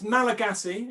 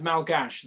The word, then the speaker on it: Malagasy: madagascar right yeah and it's malagasy is that you never talk about madagascans it's malagasys so and you don't use the french word malgash they really hate that